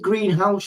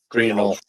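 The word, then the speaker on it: Greenhalgh: If you Liv Greenhouse, how do you pronounce the surname? There's always a bit of confusion about it. Greenhall.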